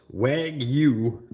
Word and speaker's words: Wagyu: It's pronounced Wagyu Japanese beef.